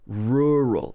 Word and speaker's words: rural: Rural.